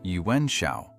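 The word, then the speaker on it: Yuan Shao: Yuen Shiao, pronounced Yuen Shiao, was elected leader.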